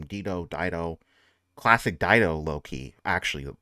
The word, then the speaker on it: Dido: Dido.